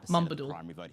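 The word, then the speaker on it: Moombooldool: So, if you were to pronounce it how it looks, it's Moom Bool, but it's pronounced Mumbadool. Moobadool.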